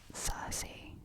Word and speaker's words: Circe: So I wish that I could read Circe, is how you say it, and The Song of Achilles.